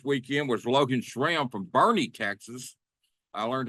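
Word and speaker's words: Boerne: r uh NE and I thought it was burn Texas but it's Bernie Texas you know or Bourn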